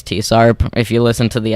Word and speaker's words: TSARP: know some people just some people don't know how you're supposed to to pronounce tsarp it's it's tsarp if you listen to